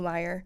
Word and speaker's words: Meier: But similar to a Timo Meier, and now I'm second guessing myself as I say it out loud. No, it's Meier. It's Meier for sure.